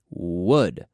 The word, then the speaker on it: would: And we can practice the pronunciation by thinking of the Spanish word for egg. ¿Cómo? Yes, egg. How do you say egg in Spanish? Pues huevo. That's right. We have that w. And then we add ud.